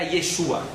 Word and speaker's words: Yeshua: O nome original dele era Yeshua. Não Yehoshua, como Josué da Torá, da Bíblia, do Velho Testamento, mas Yeshua se escreve Yud Shin Vav Ain.